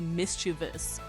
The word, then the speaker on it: mischievous: Many say mischievous, but it's actually mischievous. It sounds like miss and cha with a vus at the end.